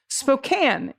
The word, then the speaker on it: Spokane: people out here tolerating folks from back east mispronouncing cities constantly for example it's spokane and what the is that